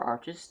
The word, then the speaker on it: Arches: take a look at the arch or arches depending how you pronounce it not also known